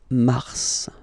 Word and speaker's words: mars: So in a way it's an exception because normally final S is not pronounced in French. Okay. We've got some exceptions and this one is one of them. So Mar pronounced the final S. Mars.